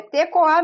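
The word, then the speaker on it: tekoha: É tecoá mesmo, membiá, caiorá. Você lembra do japonês falando? Caiorá, membiá, tecoá, nhanderu, nhanderecó, membiá. É sempre assim, eles falam sempre puxando tecoá, membiá.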